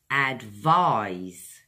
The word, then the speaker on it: advise: help it guides you advise is a verb this one has got eyes on the end ize vies is advised two syllables guys advise now this is like